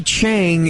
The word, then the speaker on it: Chiang: So Tommy Chang is this, and it's spelled Chiang.